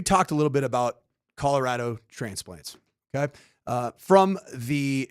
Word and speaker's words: Colorado: The p the pronunciation in Spanish is Colorado. Colorado. So you all are saying it wrong.